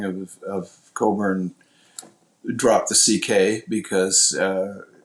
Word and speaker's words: Cockburn: for sure I mean people hear the same the name Coburn and they see how it's spelled and they don't always